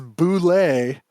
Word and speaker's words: Bulette: It is Bulette, and at North Texas, I've yelled to people